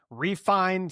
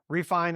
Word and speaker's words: Refyn: It's the Refine. So it's spelled REFYN. Refine.